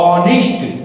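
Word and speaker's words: honest: इसको हम पढ़ेंगे तो चच का प्रोनाउंस नहीं होता है चच का साउंड नहीं होता तुम क्या पढ़ते हो ऑनेस्ट ऐसे पढ़ते हैं ना पहला लेटर आपका क्या आ गया पहला साउंड ऑ ऑनेस्ट ऑनेस्ट पढ़ र है ना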